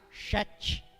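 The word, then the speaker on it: שת: Sete, no hebraico, Shet, a pronúncia no hebraico, Shet, que quer dizer apontado de Deus, nomeado.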